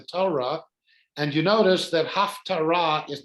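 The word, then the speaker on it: הַפְטָרָה: So this So is, Haftara. Tara. and again, the hey at the end gets to be not pronounced because there's no vowel connected to it.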